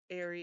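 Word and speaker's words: aerie: And the reason I know that's pronounced airy is for some reason I looked it up before I put it in here.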